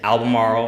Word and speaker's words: Albemarle: In Virginia, and it's Albemarle, for those that didn't hear.